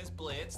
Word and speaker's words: Blitzø: Blitz, the O is silent, of course.